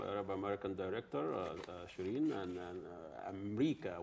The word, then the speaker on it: Amreeka: You've seen the trailer of the new film, Arab American director Cherien and Amreeka, which is the pronunciation, the Arab pronunciation of America.